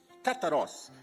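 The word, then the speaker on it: καθαρός: Ou melhor, se pronuncia kataros.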